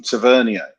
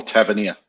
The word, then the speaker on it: Tavernier: Igman scored a great goal and fantastic ball over from Tavernier. Or Tavernier it is, isn't it?